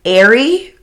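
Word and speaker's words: Ehrich: we Weiss yeah um his nickname actually used to be Ary from Eric with the way it was spelled so e h r i e which sounds a lot like Harry yeah um which is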